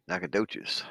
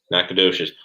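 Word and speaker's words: Nacogdoches: have black bear rumors nakadochis nakadochis silent it's a silent g nakadocious john wing talked about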